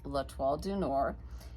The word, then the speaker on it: L'Étoile du Nord: That is the Star of the North, which in French is pronounced L'Étoile du Nord.